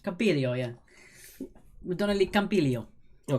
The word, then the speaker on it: Campiglio: In which country is the ski resort of Madonna di Campiglio? Is that right? Campiglio, yeah.